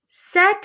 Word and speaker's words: c'est: En français, on ne prononce pas la lettre T à la fin. So in French, we don't pronounce the letter T when it's at the end of a word. C'est. However, when it's in front of a vowel, we get to pronounce it.